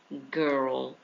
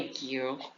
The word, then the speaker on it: girl: Cuidado com a pronúncia desse girl. Não é girl, não é girl, certo? É uma palavra que tem uma pronúncia um pouco diferente, tá? Mas é tipo um, ó, g de galinha, galinha, girl.